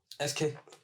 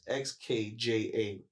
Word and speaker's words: Xkja: Xkja. That's how you say it. BC, everybody was getting confused with it. So it's Xkja.